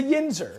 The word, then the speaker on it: yinzer: grew up in Pittsburgh like you he's a yinzer is that how you say it it's a yeah it's a yenser what does that mean again yinzer is just